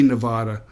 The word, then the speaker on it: Nevada: um and so if you were pronouncing it in spanish you'd probably say nevada but um i think the early settlers here that were minors and ranchers and whatever probably uh changed the the pronunciation of the word so there you go